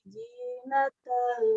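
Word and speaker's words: زينة: Inna ja'alna ma'alal ardi zinatan laha linabluwahum. Oke, nah sekarang zinatan laha itu patokannya huruf Z dalam bahasa Latin ya. Z, jadi ada gesekan.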